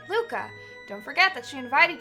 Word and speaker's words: Lucca: Is this pronounced Luca or Lucca? I'm assuming Luca. I like leaving regular names. Ruka? That's right, Luca.